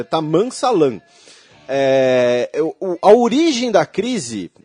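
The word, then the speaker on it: Tammam Salam: Desculpem, a pronúncia fica esquisita, mas é Taman Salam.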